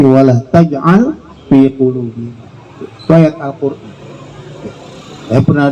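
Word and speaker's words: ولا تجعل في قلوبنا: Jadi bukan wala taj'alna fi qulubina, tapi wala taj'al fi qulubina.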